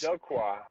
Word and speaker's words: Dela: cannot pronounce that Del it's it's Dela yeah it's Dela d you go that's how you pronounce Del yeah I I'm fed